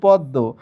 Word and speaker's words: পদ্ম: পদ্ম হওয়ার কথা কিন্তু হয়েছে পদ্ম, ম উচ্চারিত না হয়ে সংশ্লিষ্ট ব্যঞ্জন দুইবার উচ্চারিত হয়েছে।